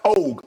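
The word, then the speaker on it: Ogg: Now, I think her name is pronounced Og, O-G-G, Kim Og, who's the DA of Harris County.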